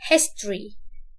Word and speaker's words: history: كل دولة بيكون ليها تاريخ، الاو دي ما توضحهاش في النطق، ده النطق الصحيح. فنقول history.